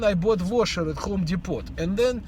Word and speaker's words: Depot: By the way, it is Home Depot, not Home Depot, right? Like my younger boy always corrects me. He says, Dad, it's pronounced Depot. T is silent.